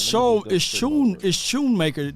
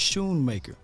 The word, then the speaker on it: Schoonmaker: So it's Schoonmaker. The C is silent. I appreciate you saying, Jay. So it's Schoonmaker.